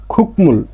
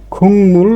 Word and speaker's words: 국물: স্বাভাবিকভাবে এর উচ্চারণটা হতো কি খুকমুল, খুকমুল স্বাভাবিকভাবে, কিন্তু বাচ্ছিমের রুলস অনুযায়ী এখানে গিয়ক পাইছি, তাহলে গিয়কের পরে আসছে কি মিউম, তাহলে এই গিয়কের উচ্চারণটা ক না হয়ে যাবে কি ইয়ং। তাহলে এর উচ্চারণ হবে কি খুংমুল গোয়ান, খুংমুল।